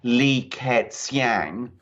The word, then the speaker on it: Li Keqiang: the way i understand that his name is pronounced li ket's yang li it's you yeah the legal eq is